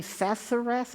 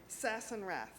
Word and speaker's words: Sassenrath: Sassenrath? I want to say it correctly. Sassenrath. Sassenrath.